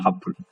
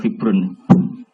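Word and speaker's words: حبر: Ada habrun rata-rata di syarat itu bacanya habrun. Tapi ono wae kiai sing balelo maca hibrun.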